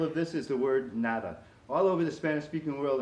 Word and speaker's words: nada: here now that pronounced nah nah they just kind of make the a a little bit longer and they eat the D that they say call